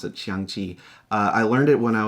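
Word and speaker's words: 象棋: That's the Chinese word for it, or how you pronounce it, Xiangqi.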